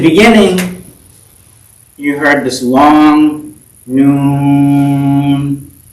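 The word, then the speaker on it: ن: not pronounced with valid they're just pronounced by the name of the letter so the name of this letter is new so it just said noon um usually it's an elongated sound um and what does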